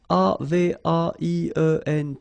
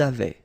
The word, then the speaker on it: avaient: we've got also here A-V-A-I-E-N-T, but then you pronounce it avait. So the same way as we pronounce here, okay? J'avais, tu avais, il avait, nous avions, vous aviez, ils avaient.